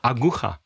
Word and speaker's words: aguja: Aguja.